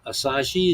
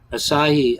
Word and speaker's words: Asahi: like well so I get this dry uh asashi is that what you're saying Asahi I I get a mini cans like four